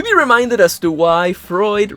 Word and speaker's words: Freud: reminded us to why Freud rhymes with fraud and check the description